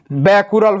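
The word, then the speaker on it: becquerel: बोलिए, radio activity का SI unit क्या होता है, तो रेडियो एक्टिविटी का एसआई यूनिट क्या होता है, बैकुरल होता है।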